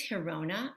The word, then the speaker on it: Girona: some archaeological evidence um this is hirona so this is a jewish quarter north of barcelona in a town called it's spelled girona this is a mikvah